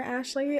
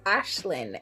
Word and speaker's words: Ashlyn: apologize ahead of time I kept saying Ashland's name wrong I do not know why I kept calling her Ashley I don't know why in any case Ashlyn and just mentally auto